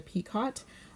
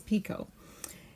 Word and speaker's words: picot: called the SF picot sometimes I call it a peacott I believe the correct pronunciation is picot we will be doing